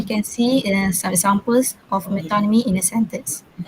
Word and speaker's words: metonymy: pronounce it is metonymy.